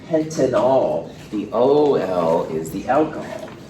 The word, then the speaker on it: pentanol: I'm kind of trying to emphasize the pronunciations here just to make sure it's clear. This is pentanal, and this is a pentanol.